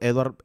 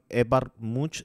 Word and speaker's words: Edvard Munch: que también busquen el trabajo de este pintor edward edvard munch se escribe es muy interesante porque el grito desde